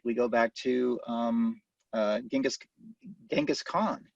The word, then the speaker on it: Genghis Khan: go back to Genghis Genghis Khan or jenga's Khan as I think people in our more correctly apparently pronouncing his name but I don't believe